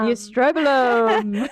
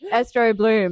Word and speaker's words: estrobolome: The estrobolome. Estrobolome. Estrobloom. Yeah, okay. Because that's what I usually say. I'm like, oh, am I saying it wrong? Estrobolome is how we say it.